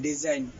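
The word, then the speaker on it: design: এর উচ্চারণ হবে আইন এক্ষেত্রে জি এর উচ্চারণ অনুচ্চারিত থাকবে যেমন ডি এস আই জি এন ডিজাইন আর এস আই জি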